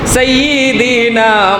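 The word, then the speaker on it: سيدنا: ওয়ালা আলি সাইয়্যিদিনা, এ সাইয়্যিদিনা এখানে ইয়ার উপরে তাসদীদ, এখানে আপনার জাতাদা পড়তে হইব, শক্ত করে পড়া লাগবে। সাইয়্যিদিনা মাওলানা মুহাম্মদ, এইভাবে পড়া লাগে।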